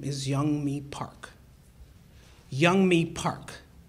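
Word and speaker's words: Yeonmi: States and her name is Young me Park young me Park it's spelled ye o m n i but it's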